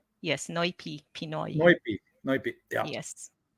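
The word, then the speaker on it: Noypi: Did I pronounce it Noipi. correct? Yes, Noipi, Pinoy.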